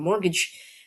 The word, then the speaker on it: mortgage: And mortgage, you don't see the T in the middle as well.